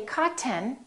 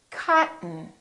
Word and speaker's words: cotton: curtain one more word don't say cotton say cotton cotton okay let's try some sentences